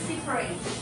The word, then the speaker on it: separate: So it's an adjective. But if it's a verb, we say separate.